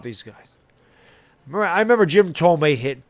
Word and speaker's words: Thome: I didn't know how to say it. I'm thinking it's Jim Thome. I mean, that's, you don't know anything about these guys. I remember Jim Tomei hit 2 shots to dead center field.